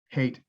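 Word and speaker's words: Haight: hate i was like hate ashbury but then i was like i was like yeah so it's it's pronounced like hate and sometimes i want to overcorrect to be like height aspirate but yeah you're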